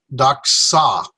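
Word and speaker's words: δόξα: there we go okay still two syllables but now i'm have the c sound and so it's duck saw duck saw four ducks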